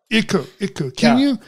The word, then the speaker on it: Iku: Your mascot is Iku. Is that how it's pronounced? Iku, yeah. Iku.